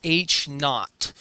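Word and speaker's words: H₀: That's pronounced H knot.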